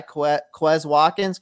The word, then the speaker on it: Quez Watkins: Your guy, Quez Watkins, correct? Is that how you pronounce it?